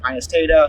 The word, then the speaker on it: Pinus taeda: People pronounce that differently. I pronounce it Pinus taeda. Sometimes you'll hear it taeda or something like that.